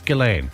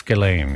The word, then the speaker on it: Ghislaine: Yeah, no, it's Ghislaine. Okay. It's Ghislaine, yeah. So the S is silent. Yeah, there you go. But the G is hard.